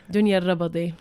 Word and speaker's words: Dunia Alrabadi: So how do you say it? Dunia Rabadi. That's if you want to say it. I said the ayn. There's no ayn in there, is there?